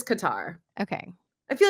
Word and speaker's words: Qatar: guitar next week yes is it cutter qar or Cutter I call it Qatar let's let's figure I don't like cutter but then don't take pronunciation for me I am not the one saying things on this podcast the correct way I feel like I've gone it's oh it is qar okay I feel like